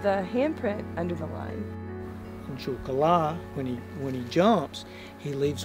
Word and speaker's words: Juthcullah: Cherokee, the word is pronounced Juhkala.